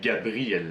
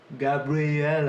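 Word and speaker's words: Gabriella: enfin aux mails excuses je croyais qu'on disait gabriel là mais ça se prononce gab real a quelque chose de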